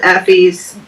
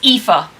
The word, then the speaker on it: Aoife: That Will was killed Effie's brother. Brother. It's Aoife.